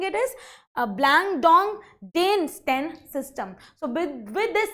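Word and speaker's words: Blandongdiensten: meant that blank dong it how we are pronouncing it is blang dong Dan St system so with with this system actually they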